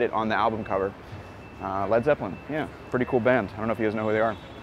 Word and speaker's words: Led Zeppelin: Yeah, a Led Zeppelin. But lead is spelled L-E-A-D, but they changed it to L-E-D because too many people would mispronounce it and call it Led Zeppelin.